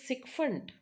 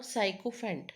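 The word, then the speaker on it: sycophant: penultimate now next is sikfundant it's not psychopant it's sundant so how to remember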